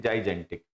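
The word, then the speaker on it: gigantic: इसकी स्पेलिंग होती है जाइजेंटिक, GIGA। वैसे तो एक गीगा बोला जाता है, गीगा बाइट, लेकिन यहाँ पे इसको जाइजान, जाइजेंटिक।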